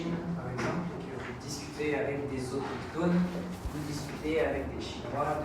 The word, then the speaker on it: autochtone: des photos, rencontrer des autochtones, des autochtones. les autochtones, Autochtones. des autochtones. On prononce le CH ici, tu le prononces que ton. Donc autochtone.